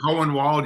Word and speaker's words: Hohenwald: I always get nervous when I try to pronounce Hohenwald but you have a good German name Hohenwald you did fine oh good good good we